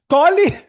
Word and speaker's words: Colle: भाई कॉली की स्पेलिंग वो नहीं है, कॉलीफ्लावर नहीं है भाई. ये इट इज COLLE. That is the spelling of कॉली, नॉट COAULY. भाई that is cauliflower. I am talking about COLLE.